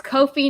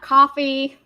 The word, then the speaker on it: Ko-fi: editing or anything else it's kofi not coffee i appreciate you this one richard they missed the vote on that one but it is what it is it's because it rhymes with no fee and they're saying is